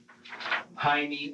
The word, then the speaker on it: Jaime: the name of um Jaime or Jamie God yes I do the J and Jaime here is pronounced with an H sound like it would be pronounced in Spanish but Michael and the